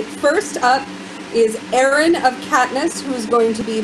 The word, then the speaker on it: Caithness: Erin of Caithness, you are up. It's actually Caithness, but that's okay. You're not the first one to mispronounce that.